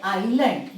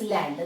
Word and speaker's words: island: Now this word island, don't pronounce it as island.